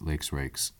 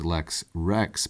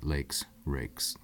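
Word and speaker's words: Lex Rex: and the author of lakes rakes this is his famous political treatise that the law is king often pronounced elects Rex but pedantically i'm pronouncing the e's long lakes rakes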